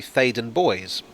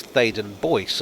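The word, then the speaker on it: Theydon Bois: the subject is here i assumed it was pronounced in the french manner faden boi but it's actually thaden boys or sometimes thaden boyce although there doesn't seem to be any consensus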